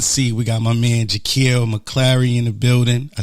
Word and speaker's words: Jakeel McClary: In the building tonight in the hot seat, we got my man JAKEEL, Mcclary in the building.